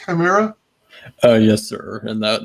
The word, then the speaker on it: Chimera: by our very special guest uh is it pronounced chimera oh yes sir and that is an amazing